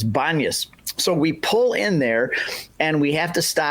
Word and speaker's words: Banias: So pus became banas. That's why if you look on a map it's b an n i a s because because of the Arab inability to pronounce the peace sound. So it's banas.